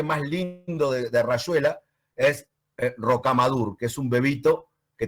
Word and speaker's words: Rocamadour: Y a mí me cuesta muchísimo leer Rocamadour y no Rocamadour, que es como lo pronuncia Julio cuando lo lee, dice Rocamadour.